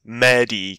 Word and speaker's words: Medi: how to pronounce this he said it was pronounced Mehdi kind of like medieval does still don't know